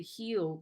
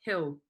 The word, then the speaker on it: hill: It's a primary school teacher telling you not to say Heeel, but hill.